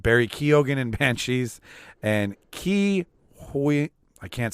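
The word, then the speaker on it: Ke Huy Quan: And Ki Hui. I can't say it. How do you say it? Ki Huan Kwan.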